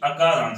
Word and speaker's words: अकारांत: अगर हमें आ पढ़ना है, ठीक है, अगर हमें आ पढ़ना है तो हम वहां पे छोटा आ को हम छोटा आ नहीं पढ़ते हैं। अगर इसको हम ऐसे पढ़ेंगे तो इसका सही उच्चारण नहीं मानेगा। इसको हम पढ़ेंगे अकारांत। क्या पढ़ेंगे?